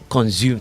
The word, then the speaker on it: consume: Sounds like consume to me. And some say, you say, okay, consume. That S sound pronounced S and not Z. So it's consume.